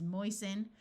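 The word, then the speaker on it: moisten: says o this is moisen note that the root is moist but when we add the suffix the T sound disappears hasten the same thing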